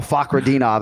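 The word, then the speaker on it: Fakhretdinov: But you did nail Fakhradinov, and I did have to play that file for my daughter today because he really hits that Fak, right?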